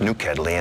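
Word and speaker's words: nokedli: It's a rich gravy, and then the Hungarian dumplings, which is pronounced nukedli in the language, and that's a small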